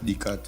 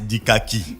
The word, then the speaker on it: Dikaki: Fougamou face à 109 tu allais dire AS Dikat. AS quoi? Non. AS Dikaki de Fougamou. Est-ce que je prononce bien? Tu prononces très bien, Pépé.